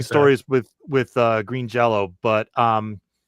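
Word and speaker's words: Jellÿ: Even say with green jelly. I keep saying jelly. I know it's jello. It's pronounced it's spelled jelly. Well, it's it's it's y with an umlot which is apparently pronounced o.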